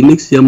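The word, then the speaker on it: NXIVM: Thì khi Lệ Ngọc đọc cái chữ Nixium là Lệ Ngọc, Lệ Ngọc phát âm rất là đúng cái tên đó, tại vì tòa họ cũng phát âm như vậy.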